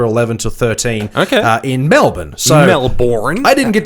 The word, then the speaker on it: Melbourne: weekend's from October 11 to 13 okay in Melbourne so belaboring I didn't get to go to